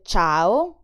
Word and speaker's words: ciao: In words like ciao or cento, the letter C sounds ch because it's followed by E or I. Ch, ciao, cento.